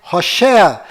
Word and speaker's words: Hoshea: Mas a pronúncia correta de Oséias é Hoshea.